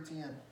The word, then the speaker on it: Etienne: Trevor Etienne.